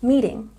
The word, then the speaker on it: meeting: We have a stress on the first syllable in meeting. And this symbol here under the T shows us that it's a soft T sound, just like in the numbers in the tens.